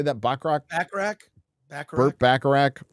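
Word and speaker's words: Bachrach: Bacharach? Burt Bacharach. Like Burt Bacharach.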